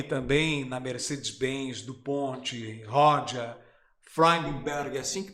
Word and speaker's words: Freudenberg: Agora, atuou aí também na Mercedes-Benz, DuPont, Rodia, Freudenberg, assim que pronuncia, Freudenberg, exatamente.